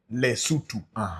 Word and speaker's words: Lesotho: No, you see, that's the wrong pronunciation. I know, but that is what they know. So they've been saying it, but Lesotho. It's not Lesotho. Yeah. It is Lesotho.